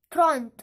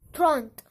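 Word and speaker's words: trente: Okay, फिर है अगला 30, जिसको हम बोलेंगे थ्रॉन्ट। क्या बोलेंगे? थ्रॉन्ट।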